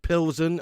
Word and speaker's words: Plzeň: how you doing Dave it's pronounced pillson oh yeah I did hear them say that actually before the game to be honest pills and yeah sounds like a beer doesn't it ra how